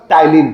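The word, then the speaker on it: ptyalin: Salivary अमाइलेज़ को ही हम लोग बोलते हैं बच्चों टाइलीन। ठीक है? टाइलीन जो होता है उसको हम सलाइवरी अमाइलेस को बोलते हैं। इसकी स्पेलिंग होती है पी टी वाई एल आई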